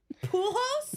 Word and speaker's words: Pujols: How do you pronounce that? Pujols. Pujols?